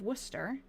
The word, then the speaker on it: Worcester: Turner of Worcester, I think I say that wrong. I pronounce that like it's pronounced in Massachusetts, was summoned and he revived and was taken home.